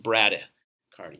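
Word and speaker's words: bradycardia: that's slowing down in the heart rate yes pronounced bradda cardi not Brady he is slowing down a little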